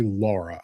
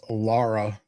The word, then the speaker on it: Lara: I always say Laura. I know Larry. Larry. I know there is no U in there, but we insert long vowel sounds into everything here. I would have pronounced it Laura all day. Yeah. And she would have corrected me.